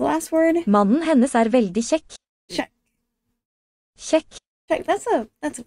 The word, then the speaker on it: kjekk: Mannen hennes veldig kjekk. Check. Kjekk. Check. That's a fun word in Norwegian. Check. The KJ makes kind of the sh sound.